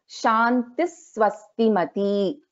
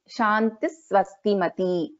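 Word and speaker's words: शान्तिः स्वस्तिमती: So in this case, when a Visarga is followed by a Sa, then we will pronounce this as Shantis Swastimati. Shantis Swastimati.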